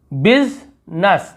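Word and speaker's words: business: आई silent, देखिए बिजनेस, बिजनेस ऐसे पढ़ते हैं, बिजनेस यानी होता है व्यवसाय, तो बिजनेस ऐसे नहीं बोल रहे हैं।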